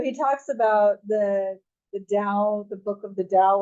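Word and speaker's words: Tao: Dow now so he talks about the the Dao the book of the Dow like it's um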